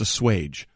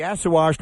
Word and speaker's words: assuage: The actual pronunciation of the word is assuage, not. Baker has to assuage some of those concerns. And nor is it. Can be assuaged by a 15-yard penalty. So it's assuage.